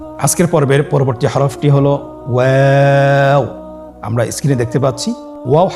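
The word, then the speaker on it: واو: দুই ঠোঁট গোল করে মাঝখানে ফাঁক রেখে হরফটি উচ্চারণ করতে হবে।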